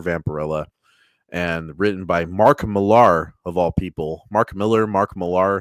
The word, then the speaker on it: Millar: I think it's Miller. I think Americans just say his name that way, but he's Scottish if I remember right.